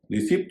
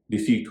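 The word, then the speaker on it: receipt: में रसीद कहते हैं आर ई सी ई आई पी टी इसका उच्चारण रिसीप्ट नहीं होगा रिट होगा अब थोड़ा हिंट दे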